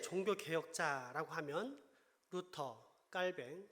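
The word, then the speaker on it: 칼뱅: 개혁자 라고 하면 부터 깔 밴 흔히 칼빈이 라고 하는 프랑스 발음이 깔 밴 입니다 튜빙 군이 이렇게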